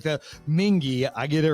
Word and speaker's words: Mingee: Like the Mingee, I get it right.